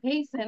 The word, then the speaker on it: hasten: and then we will hasten, তীর উচ্চারণ এখানে হবে না, hasten মানে দ্রুত চলে যেতে পারবো into our holes.